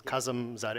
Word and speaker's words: Kazam Zad: Um, well, so you my name is a little bit hard to pronounce, but it's Kazam Zad. If you do divide and conquer.